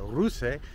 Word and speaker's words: Ruse: Ruse Bulgaria.